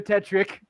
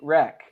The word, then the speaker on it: Tirek: The point with this literally runs a train over Tetrick. this Tetrick. I didn't know. I don't know how to say his name properly. Tirek.